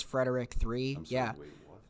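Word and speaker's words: Fred3rick: Okay, next we have Fred 3 Rick, but I think it's Frederick 3. I'm sorry, wait, what? It's spelled Fred 3 Rick, like they switched out the E with a 3.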